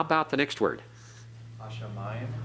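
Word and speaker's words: הַשָּׁמַיִם: Hashamayim. Okay, remember the pathak? Shamayim. And notice the doubling dogish in the sheen. Shamayim. Okay, everyone? Shamayim. Modern Hebrew says Hashamayim. All right, we're pronouncing it as biblical Hebrew.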